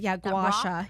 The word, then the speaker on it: gua sha: Gua sha.